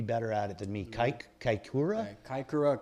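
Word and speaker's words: Kaikōura: It says how would you pronounce that racetrack, John? You'd be better at it than me. Kaikoura. Kaikoura.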